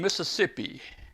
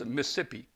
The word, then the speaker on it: Mississippi: So what is new down in Mississippi? Oh, wait. Well, Wait a minute. Wait. I pronounced it wrong. It's Mississippi. it's Mississippi. Mississippi.